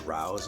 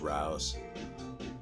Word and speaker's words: Rouse: Charles Rouse, I think you pronounce the name. Okay. Could be Ruse. I'm pretty sure it's Rouse. Two is one.